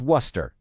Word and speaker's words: Worcester: It's Worcester. Just Worcester. Two simple syllables.